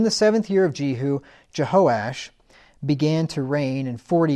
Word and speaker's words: Jehoash: me just let me say something here so Jehoash that's how you pronounce that Jehoash is another name for joash so whenever you